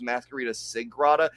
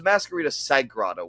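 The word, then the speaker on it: Mascarita Sagrada: sigr and also I I just realized that at least I have been saying it wrong this whole time I've been thinking it was mascarita sigr it is mascarita sagada with an a I thought there was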